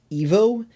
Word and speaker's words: Ivo: weirder and it's like sometimes you hear it pronounced evo and then it makes you think they did that because it sounds like evil but they say ivo enough that i'm not sure if that's actually what it is yeah i don't